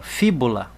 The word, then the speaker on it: fíbula: Marquei a sílaba tônica, o fi, e a sílaba tônica não é a última, nem a penúltima, é a antepenúltima.